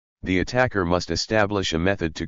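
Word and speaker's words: ATT&CK: This acronym is pronounced as attack.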